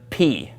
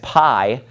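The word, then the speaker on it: π: we have the letter P you probably again learned this in math as Pi but in Greek it's pronounced p P okay let me draw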